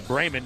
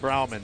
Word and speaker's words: Brayman: Yeah, Brayman, not Brauman.